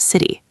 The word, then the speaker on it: city: But in city, it is between vowels, so it becomes city.